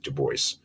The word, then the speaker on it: Du Bois: is it is pronounced de bois by the way i know it's french but he's was american right so he pronounced it du bois in the end of